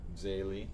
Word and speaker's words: Zélie: Louis wanted to be a priest, and Zelly, or Zélie, if you want to pronounce it French.